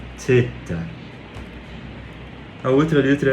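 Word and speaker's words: θῆτα: É teta. É o, é como se você tivesse a língua presa mesmo. Não é t, não é teta, teta seta, seta. É bem bem suave.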